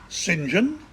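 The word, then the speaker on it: St John: vorgan become Vaughn Saint John becomes Sinjin and tires College Cambridge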